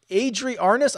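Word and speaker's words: Arnaus: So Adri Arnas, I believe is how he pronounces it, from Spain.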